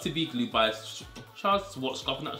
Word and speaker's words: Schwarzkopf: And I'm gonna take, if you haven't used this, this is the Got To Be by Got To Be Glue by Charles Schwarzkopf, and that's how you say it.